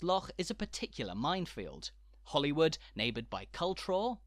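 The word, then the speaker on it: Holywood: not cockburn and it's Hollywood not holy rude Hollywood a historic heart of power and authority in Scotland rhymes with Hollywood not the star-studded District of Los Angeles but the beautiful Suburban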